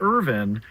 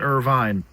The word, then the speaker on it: Irvine: Say Irvin, not Irvine.